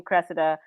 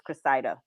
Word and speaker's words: Cressida: character her name is i say her name cressida but they say that the right way to say her name is cresida okay yeah um made